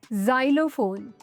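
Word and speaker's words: xylophone: Nash rule number 10 pronounce x एज ज़ एट the beginning of a word for example xylem जाइलोफोन xenophobia there are एक्सेप्शनंस फॉर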